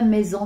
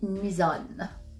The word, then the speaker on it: Mison: Alors, c'est pas maison, Mison. Non, c'est Mison. Et on prononce mieux, on dit Misonne.